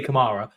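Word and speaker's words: Kamara: I mean, for starters, they get his name wrong. For starters, they call him Cameron. Camera. It's defin definitely Kamar but like I don't understand why no one talks about him ever.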